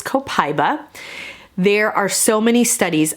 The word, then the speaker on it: copaiba: we have copaiba and you may hear this referred to as copaiba but from what i have read and what i have watched and listened to the proper pronunciation of this is copaiba there are so many